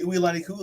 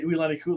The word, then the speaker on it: Uilani Kule: So a lot of people call her Mary. I can actually say Uilani Kule. Yep. So I actually do say Uilani Kule because I can say her name correctly.